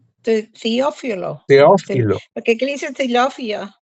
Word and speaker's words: Teófilo: ¿Y cómo se pronuncia esta huerta? Teófilo. Teófilo.